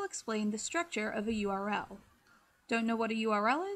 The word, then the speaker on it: URL: the structure of a URL don't know what a URL is well first of all URL is pronounced by its individual letters and not like Earl unlike this guy and